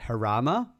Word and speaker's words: Jarama: It's at Jarama, right? It's pronounced that way.